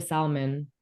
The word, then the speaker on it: salmon: that I found out we're not supposed to pronounce the L in Salmon she like me must